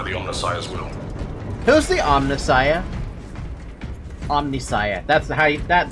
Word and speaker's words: Omnissiah: Who's the Omnissiah?